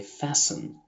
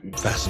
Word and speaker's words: fasten: الاسم المستعار بتاعها التي الصامتة لأنها مش بتنطق خالص، صوتها بيختفي، زي fasten وcastle وwhistle. في الكلمات دي ما نطقناش اصلا حرف التي، كأنه مش موجود، تجاهلناه تماما. Fasten your seatbelts.